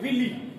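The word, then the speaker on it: villi: हम लोग बोलते हैं विली, ठीक है। विली या कुछ लोग विलाई भी बोलते हैं, अलग अलग प्रोनाउंसिएशन इसको कर सकते हैं।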